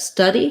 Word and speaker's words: study: So the main difference here is that study has vowel schwa. It sounds like Steady has vowel It sounds like the in red and tent.